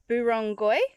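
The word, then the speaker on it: Burrungkuy: on this side that I was saying it wrong so I hate it when people say things wrong so it's burongoi is how you say it the lower area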